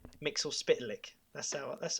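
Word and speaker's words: Mxyzptlk: to our email address tell us how you pronounce mr mix all click mix or spitlick that's our that's how i pronounce it anyway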